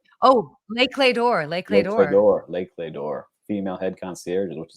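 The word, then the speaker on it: Les Clefs d'Or: The cleft deor. Oh Lakeor Lake female head concier which is amazing.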